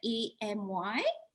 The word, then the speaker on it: Emi: name is aimee you may call me amy it sounds like amy although it's it is